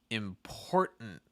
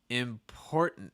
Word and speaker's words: important: first word here is important important this is our only word i think let me check out the other side i think this is our only word with a held t sound and the hell t